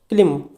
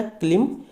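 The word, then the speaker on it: climb: Next है क्लिम। इसे बोलेंगे हम क्या, क्लिम, लेकिन यहाँ पे बी क्या है, आपका साइलेंट है।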